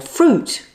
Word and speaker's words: fruit: To help, many YouTube channels highlight the words that students get wrong, like height with its silent E, or fruit with its silent I, or subtle with its silent B.